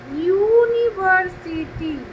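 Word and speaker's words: university: তো এমন কিছু কিছু শব্দ আছে, যেমন ধরো ইউনিভার্সিটি, যদিও শুরু হচ্ছে ইউ দিয়ে, কিন্তু যখন আমরা এটা উচ্চারণ করতে যাচ্ছি তখন আমরা বলছি ইউনিভার্সিটি, উচ্চারণটা আসছে ইউ ওয়াই, সেজন্য আমরা এর আগে আমরা বসাচ্ছি এ।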